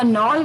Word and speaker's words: knoll: तो चलिए जो 15वां वर्ड यानी कि 15 वर्ड था वो था नॉल. KNOLL. नॉल यानी कि स्मॉल नेचुरल हिल. नॉल के साइलेंट है इसमें, तो KNOLL नॉल यानी कि एक छोटा सा पहाड़, हिल जो कि नेचुरल है, मैन मेड नहीं है.